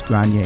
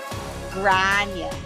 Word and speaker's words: Gráinne: if you were from the northwest of Ireland, you would say Gráinne. And I would say Gráinne. Gráinne.